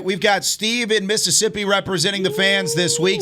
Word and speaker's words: Mississippi: and when you say Mississippi, you got to cut out one of the syllables, so it's Mississippi.